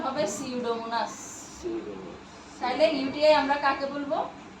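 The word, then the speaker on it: Pseudomonas: ও এন এস সিউডোমোনাস এখানে যদিও পি আছে বাট পি এর উচ্চারণ হবে না উচ্চারণ হবে সিউডোমোনাস তাইলে ইউটিআই আমরা কাকে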